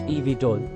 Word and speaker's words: eVTOL: vertical takeoff and Landing or evtol pronounced EV toll this means that they